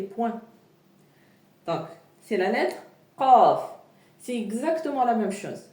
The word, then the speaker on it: ق: Faites attention, c'est pas le K comme en français, non, c'est Qa, Qa, Qa.